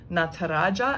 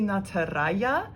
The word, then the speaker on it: Nataraja: fun one as well nataraja and now i say nataraja it may be nataraya because i know sometimes uh jays are pronounced as a y so again if you